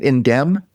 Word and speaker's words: Indemn: Indem. The M is silent.